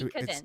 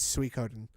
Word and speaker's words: Suikoden: Well, there's one pronunciation of the word. And it's Suikoden. it's Sweet Coden.